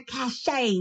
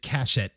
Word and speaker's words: cachet: written in dialect but it's probably supposed to be cachet i will lend it a cachet does it not to the sweet but because he's got an accent he probably pronounces it cachett because he's only ever seen it written and it looks like catch it you're right oh thank